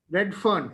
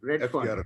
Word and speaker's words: Redfern: How do you say it again? Redfern, F-E-R-N. Redfern.